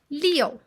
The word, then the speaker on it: 六: today we'll learn character liu we'll learn its pronunciation origins how to use it and how to write it let's start leo leo falling home stomp your feet when you